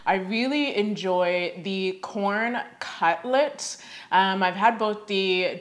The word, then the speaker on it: Quorn: spicy girl so yeah i believe this brand is pronounced corn i really enjoy the corn cutlets i've had both